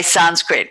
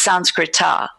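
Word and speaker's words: संस्कृत: powerful the word sons we say Sanskrit which is really a Hindi pronunciation the actual word is Sanskrit are and the word Sanskrit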